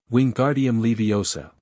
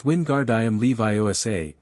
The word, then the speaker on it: Wingardium Leviosa: Wingardium Leviosa. He shouted, waving his arms like a windmill. You're saying it wrong, Harry heard Hermione snap. It's Wingardium Leviosa. Make the gar nice and long.